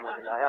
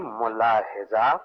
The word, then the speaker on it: मुलाहिजा: मुझलाया फरमाइए नहीं, मुलाहिजा फरमाइए।